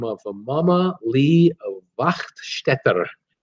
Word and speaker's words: Wachtstetter: But it's the story of a woman by the name of Mama Lee Wachtstetter. I love how that's a German pronunciation, W-A-C-H-T, Stetter, Wachtstetter.